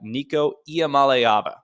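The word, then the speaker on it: Nico Iamaleava: country led by their red shirt freshman quarterback Nico IAM malava that's right Nico iam malava in case your friends ask that's how you pronounce it I looked it up trust me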